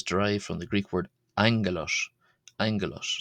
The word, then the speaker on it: ἄγγελος: Angelos is derived from the Greek word angalos. Angalos. So like an NG sound for the first G there in Greek.